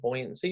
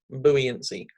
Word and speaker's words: buoyancy: Hydraulics and buoyancy, or buoyancy if you prefer to pronounce it the non-American way. That's one of the words I actually prefer Americanized, buoyancy.